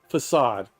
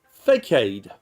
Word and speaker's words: facade: gave a lecture using the word spelled f-a-c-a-d-e facade throughout his lecture each time he said the word he pronounced it fake aid he was very proud and somewhat was excited